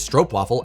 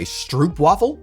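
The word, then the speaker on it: stroopwafel: But if I hear an American say that it's a stroop waffle, I'm like, "Wo wo." Now that's not acceptable. Okay. Stro, not stroop.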